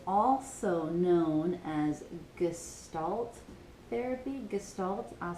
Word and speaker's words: Gestalt: Gestalt, I'll spell that, G-E-S-T-A-L-T, Gestalt therapy.